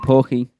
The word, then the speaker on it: poke: Look for a frogshaped structure in the rainforest village where you can enjoy snacks like the pork poke ball. Poke pokey. Darren, how is it pronounced again?